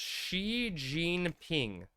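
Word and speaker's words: Xi Jinping: It's pronounced Xi Jean Ping.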